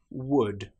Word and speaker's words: would: For example, the word would, could, should. In these cases, again, the L is completely silent.